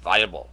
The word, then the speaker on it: Weibull: This is the Weibull, I'm not pronouncing that correctly, I know it's hard. I think it's Weibull. And if you're German, viable, the viable distribution, but no, viable.